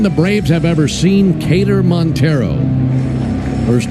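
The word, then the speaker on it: Keider: It's the first time the Braves have ever seen Kaylor Montero. First name is spelled K E I D E R and pronounced Kater.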